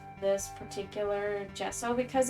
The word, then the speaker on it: gesso: Yeah, it sounds like gesso, or it looks like gesso, but it's pronounced gesso.